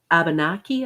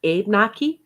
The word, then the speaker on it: Abenaki: Cree and the Ojibwe, and then the uh, Abenaki, I think it's pronounced, or Abenaki, Mhm.